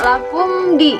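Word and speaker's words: لَكُمْ دِينُكُمْ: Ada di situ mim mati menghadapi dal. Kita hukumi sebagai izhar syafawi. Dibacanya jelas. Jadi tidak boleh seperti ini. Lakumdi. Lakumdi. Enggak boleh seperti itu, tapi lakumdi. Lakumdi. Lakumdi. Jadi dibaca jelas ya, disebutnya izhar syafawi.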